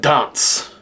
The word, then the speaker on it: D.H.A.R.N.T.Z.: It is spelled D.H.A.R.N.T.Z, but pronounced dance.